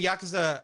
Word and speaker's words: Yakuza: Well, when I'm saying Yakuza, I'm saying it like somebody that speaks fluent Japanese would say it.